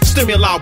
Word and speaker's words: Stimuli: like the sun turn stimuli one word three syllables keeps drilling you with